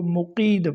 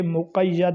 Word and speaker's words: مقید: فقہ کی باتیں ہیں۔ اسی طرح مقید لفظ ہے، بعض اس کو مقید پڑھتے ہیں۔ یہ مقید نہیں ہے یا مقید نہیں ہے، بلکہ مقید ہے۔ مطلق، مقید، یہ اسم